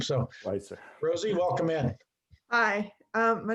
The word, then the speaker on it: Schweitzer: herself, because I'm not 100% sure how to pronounce her last name. So, Schweitzer. Rosie, welcome in. Hi, my name is Rosie Schweitzer.